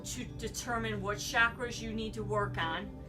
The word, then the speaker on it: chakra: It is a Hindu practice and it's pronounced chakra. I'm today going to take you through quickly on what we do for chakra and then break it down in 7 segues